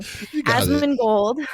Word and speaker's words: Asmongold: Asmongold.